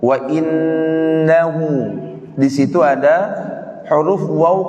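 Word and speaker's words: وإنه: Ya, tadi ada beberapa orang yang baca wa innahu ala, harusnya wa innahu ya, dua harokat. Ada waw kecil di situ, maka dibaca dua harokat.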